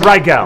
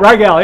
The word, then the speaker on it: Rygiel: netlive pay attention Marvel Disney when you ready to do Doctor Strange call ryel and that's pronounced ryel Rael yeah it all right